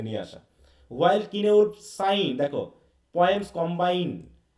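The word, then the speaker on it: Cynewulf: তাই তো, সিনেউলফ বা কিনেউলফ বিভিন্নভাবে এর উচ্চারণটা করা হয়, তা কিনেউলফই বলবা তোমরা।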